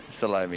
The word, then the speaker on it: Salomi: or salomi all right salomi and that's the way you pronounce it that's correct there salomi yeah terrific well thanks